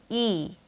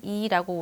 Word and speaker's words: E: 우리는 대부분 이 글자를 E라고 발음을 했죠. 치아를 뜻하는 E라고 우리말처럼 말이죠. 하지만 잘못된 발음이죠. 이 글자를 발음할 때는 이 입모양처럼 입술을 양옆으로 당기며 E 하고 소리내야 해요. 마찬가지로 짧게 끊지 마시고요. 약간 길게 빼면서 E 하고 소리내세요.